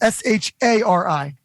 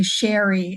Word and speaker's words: Shari: Because it's S-H-A-R-I. You're so good. And I have to correct people so often because they'll say Sherry and I'll say it's Shari.